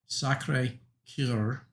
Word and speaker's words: Sacré-Cœur: I'm not good at speaking French, but I believe it's pronounced, I'll try not to butcher too bad, Sacré-Cœur, and it means the Sacred Heart.